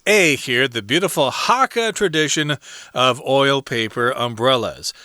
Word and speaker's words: Hakka: It's A here, the beautiful Hakka tradition of oil paper umbrellas.